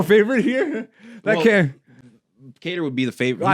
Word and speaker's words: Kattar: Calvin Cater. Yep. Yeah. How come white boys got the Qatar name, but it's pronounced Cater?